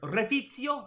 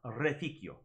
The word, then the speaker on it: reficio: So here, Refizio, Reficio, both of those are wrong. The C should make a K sound. Reficio, Reficio.